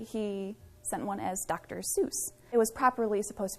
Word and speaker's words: Seuss: Seuss is an interesting story asustas his mom's maiden name and it's actually pronounced a sois in the proper German pronunciation while he was in